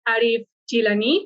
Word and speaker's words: Arif Jilani: in the new podcast we are here with arif gilani that's how you pronounce it no that's correct yeah okay perfect